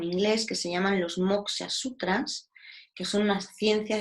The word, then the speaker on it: moksha: Esa liberación en los Yoga Sutras se conoce como moksha. No os he anotado la palabra, se escribe M-O-K-S-A.